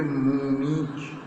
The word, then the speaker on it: Munich: इसकी प्रोनाउंसिएशन लीजिए मूनिच. माँ में बड़े ओ की मात्रा, ना में बड़ी ई की मात्रा और चा मूनिच.